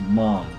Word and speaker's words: Maam: apostrophe but uh the tran they say it pronounces as mom or mamu as the show pronounced it but